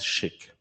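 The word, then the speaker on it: SCHC: this thing that is called SCC uh which is very unpronouncable as it is. So we call it SHIK.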